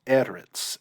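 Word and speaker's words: ארץ: This is eretz and not eretz. This is marking the syllable that's accented.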